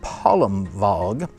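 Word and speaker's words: Palmwag: And that was spelled like Palm Wag, but it was pronounced Palm Vog.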